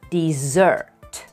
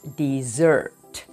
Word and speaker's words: dessert: listen to the pronunciation the stress is on the second syllable dessert the way to remember